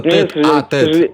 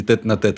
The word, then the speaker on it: тет-а-тет: Вообще-то тет-а-тет, правильно говорить, или не тет-на-тет. Это типично белорусский диалект.